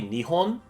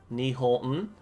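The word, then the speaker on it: 日本: So if you say, like, Japan would be Nihon, Nihon, and then the language Japanese would be, Nihongo, and then a Japanese person would be a Nihonjin. Yeah. So Nihonjin is a Japanese person, Nihongo is the Japanese language.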